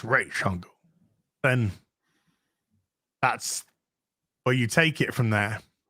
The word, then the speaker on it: Ra's al Ghul: So yeah, but when you got like Deanie and whatnot, yep, who are actually you know, and they say no, it's pronounced Ra's al Ghul, then that's where you take it from there.